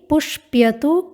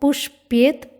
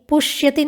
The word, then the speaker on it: पुष्प्यति: रूप है पुष्प्यति, पुष्प्यतु, अपुष्प्यत, पुष्प्येत, पुष्पिष्यति। तो उच्चारण में ध्यान रखेंगे, पुष्प्यति, पुष्यति नहीं बोलना है, पुष्प्यति बोलना है।